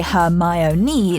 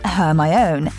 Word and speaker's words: Hermione: granger teaching victor crum to say her my own knee not her my own especially so the readers wouldn't mispronounce it looks like she should